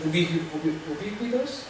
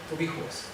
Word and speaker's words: ubicuos: ¿Ubicos? ¿Esto es correcto? Puede ser ubicos. ¿Ubicos? ¿Cómo se escribe? Ubicuos. Entonces, estos enlaces son ubicuos. ¿Ubiquitarios? No. Es el corrector que me ha puesto ubiquitarios. Debe ser ubicuos.